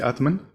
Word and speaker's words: Atman: Atman which is um am I pronouncing this correctly Atman yeah um which is um also